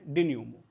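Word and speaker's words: dénouement: इस वर्ड का प्रोनाउंसिएशन है डेन्यूमो, मतलब मैं कुछ आपको लिख के बता दूं, ऐसे समझो, डेन्यूमो, ठीक है, ऐसे इसको बोलना होगा कुछ, डिन्यूमो, ठीक है। ये मेंट नहीं है, MENT, तो डिन्यूमो बस इतना ही है, डिन्यूमो, ठीक है, एम तक, ENT नहीं है, इसका प्रोनाउंसिएशन बिल्कुल नहीं है।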